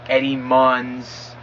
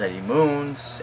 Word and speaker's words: Eddie Munes: it Eddie moons you know I've heard it Eddie muns Eddie munz um I've even heard it pronounce Eddie Money which I I think it's the best one but now you guys know it's pronounced Eddie moons and you could still pronounce it the way